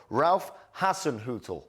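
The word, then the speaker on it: Ralph Hasenhüttl: it's the most German name in the world Ralph Hassen Hut you got it yeah Ral got it nailed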